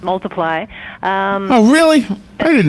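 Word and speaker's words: ×: released this year it's it looks like an x but it's pronounced multiply um oh really i didn't know that i saw the x i had no idea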